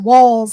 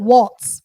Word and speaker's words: Walz: other thing it's pronounced walls and not not Walts people have been calling him Waltz but there's no T it's just W LZ and it's pronounced walls like to the windows to the walls um um and and